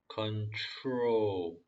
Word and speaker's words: control: 컨트롤이 아닙니다. control. 여기서 T랑 전에 말씀드렸다시피 T랑 R이랑 붙었을 때 발음은 T가 아니라 추에다 가깝습니다.